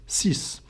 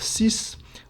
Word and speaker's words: six: letter of that word if it's a v which is either a e i o or U then the X at the end of CIS will sound like a z like we have seen before but if the first letter of the word following number six L num six is not a Vel then the X will be silent as we have seen